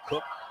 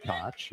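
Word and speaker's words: Koch: Do you say Cook or do you say cotch? Free throw good. Well, Cooper says cotch as did his dad Jr.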